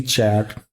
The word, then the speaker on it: char: And then there is a care which can store only a single character. Officially it is actually chat but uh mostly people pronounce it care only for character short of character.